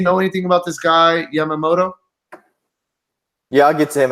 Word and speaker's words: Yamamoto: They get a matchup against Jordan Yamamola. Is that how you say it? Yamamoto.